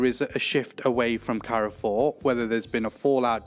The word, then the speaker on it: Carrefour: And Carrefour, obviously, it's a French company, Carrefour, if we say it properly. Carrefour.